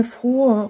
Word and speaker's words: frohe: В слове frohe у нас долгое «о». Это значит губы вперед, отверстие маленькое и челюсть вниз. «О». Потом идет очень расслабленная Она не она такая Frohe. Frohe. Вы просто расслабляете все, и тогда получается правильный звук.